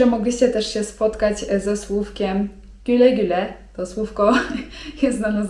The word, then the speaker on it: güle güle: güle güle (czyt. güle güle) A teraz zwrot, którym często Turcy rozpoczynają rozmowę.